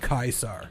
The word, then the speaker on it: Kaiser: You should have been more specific, Tuneg, and said Kaisar. That is how you But say that's it. the correct way to say Kaiser.